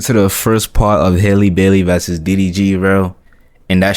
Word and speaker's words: Halle Bailey: I said Halle Bailey. Halle Bailey. That's how you say it.